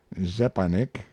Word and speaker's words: Zeparnik: in the room young zeparnik pronounced approximately zepenek mr k his financial